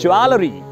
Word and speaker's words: jewelry: JEWELRY. People often mispronounce it as jewelry, which is wrong.